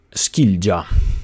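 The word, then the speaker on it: skilja: come su Kir Ruda si legge skilia skilia è il verbo norreno Che significa dividere separare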